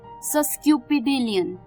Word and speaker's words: sesquipedalian: तो चलिए, this brings us टू our seventh word जो कि है सस्क्यूपिडेलियन. सस्क्यूपिडेलियन, जी हाँ, इसकी प्रोनाउंसिएशन मुश्किल है, वर्ड भी थोड़ा सा डिफिकल्ट है.